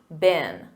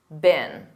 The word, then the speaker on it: been: And remember that pronunciation. Repeat after me, been, been.